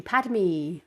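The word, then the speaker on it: Padmé: you got some big boots as well padme padme okay that's how you say it pad me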